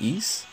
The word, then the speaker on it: Eis: I think the way you pronounce it is East or Ice. I think it's East. Anyhow, so about this card, let me see, let me go back and show you.